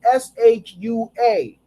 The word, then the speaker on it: Shua: And Yahudah saw there a daughter of a certain Kahani, whose name was Shua, not spelled with a W, but spelled S-H-U-A, Shua.